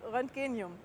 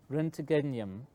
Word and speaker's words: Roentgenium: an name which is really difficult to pronounce renum which is named after ran the discovery of X-rays I just find that